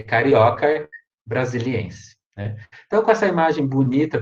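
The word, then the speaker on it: Caryocar brasiliense: a cabeça com caroço brasileira a tradução ea pronúncia gente fica carioca né nada de falar cariocar tá gente cariocar tá errado não pode ser oxítona é carioca brasiliense então com essa imagem bonita de uma árvore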